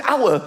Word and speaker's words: hour: Why is the word hour spelled with an H? Why is there an H? The silent H.